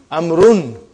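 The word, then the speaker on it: عمرو: Why do you have extra vav? It is not read. It is not pronounced. It is only written. Why? Just to differentiate between these two. Actually, it is Amrun.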